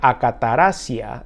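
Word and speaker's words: ἀκαθαρσία: pecado de la fornicación la inmundicia se pronuncia a qatar asia en griego y significa lo inmoral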